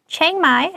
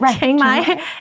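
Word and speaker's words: Chiang Mai: outdoor activities so next we have changai I think that's how you say it changai in Northern Thailand has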